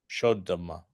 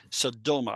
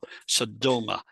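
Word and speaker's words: סדמה: Shodoma. Okay. Yeah, Sodoma, actually. The accent's on the do. Sodoma.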